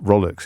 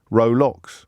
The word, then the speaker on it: Rolex: It's pronounced Rolex. It's one of those sort of pronunciation glitches that are so popular in the English language.